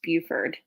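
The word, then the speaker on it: Beaufort: feathers too much and yes it is pronounced Buford yeah don't ask me I didn't grow up here I don't make the rules that's French I think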